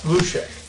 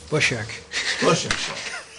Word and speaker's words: Bushek: Mr. Lushek. Bushek. I always think I know how to say That's it. all right. Say it right. It's a frequently massacred name.